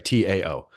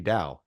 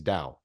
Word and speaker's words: Tao: I'm sorry, T AO, right? Uh okay. How do you pronounce it? Because in really it's supposed to be dao. That's how you actually pronounce that word is dao.